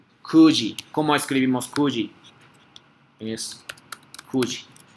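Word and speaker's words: 九時: Gozen Kyuji desu. Ahora, Gozen Kyuji desu. Aquí esta pronunciación no es Q. Cuando contamos, número general era Q, pero cambias pronunciación Q. Kuji.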